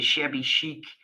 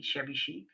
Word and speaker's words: shabby chic: This is really a shabby chic kit. Do I say that correctly? Shabby chic?